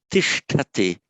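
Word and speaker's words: तिष्ठति: So you don't say stami, but tishtati. Tishtati.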